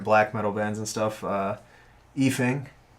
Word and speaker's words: Ifing: I guess thinking about like current black metal bands and stuff, Efing, spelled with an I. Yeah, IFING.